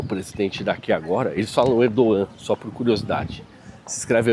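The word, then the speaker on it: Erdoğan: Parece que o a política econômica do Erdogan, né, que é o presidente daqui agora, eles falam Erdogan. Só por curiosidade, se escreve Erdogamas, eles falam Erdogan.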